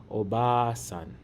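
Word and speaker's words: おばあさん: Instead, we stretch the vowel smoothly to say obasan.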